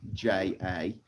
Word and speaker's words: Jinja: It's Jinja, like ninja, but with a J at the beginning.